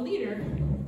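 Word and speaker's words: Lieder: he mostly composed for the voice and was heavily influenced by german songs of the 19th century which we call leader that's spelled l-i-e-d-e-r if you would like to learn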